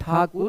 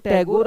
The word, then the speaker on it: ठाकुर: था रवंद्र नाथ ठाकुर वो तो टैगोर अंग्रेजों के चलते हो गया टैगोर ठाकुर को ही गलत उच्चारण करते थे कैसे हम लोग अंग्रेजी का कभी-कभी गलत उच्चारण करते हैं उस तरह वो लोग भी ठाकुर का गलत उच्चारण करते थे और ठाकुर बन गया टैगोर उसकी कहानी फिर कभी